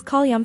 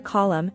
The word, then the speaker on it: column: that we hear such slovenly articulations as call Young for column and pretty for pretty